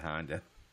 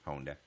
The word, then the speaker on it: Honda: hard it's really pronounced it's not Honda does anybody know how hard is really pronounce people here say Honda all the time get Honda you know they pronounce it in Japan onda did open a Seaborg